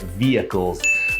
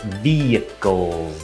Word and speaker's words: vehicles: gonna look at is vehicles vehicles is a very difficult word to pronounce this H when I say it is silent vehicles vehicle we just take